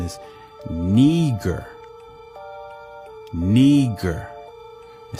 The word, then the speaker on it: Niger: it says niagara but it says it's not pronounced niger it's pronunciation is neger neger it says it's of latin origin it